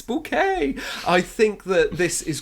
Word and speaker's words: Bucket: of the surname there it's not bucket it's bouquet I think that this